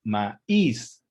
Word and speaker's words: maíz: Lo mismo sucede con la palabra maíz. No es un diptongo porque el acento que lleva la I rompe ese diptongo y se convierte en un hiato.